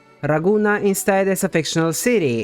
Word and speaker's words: Ragunna: city in Emilia Roma but if raguna was an Italian word that's actually how you would have read it even the way the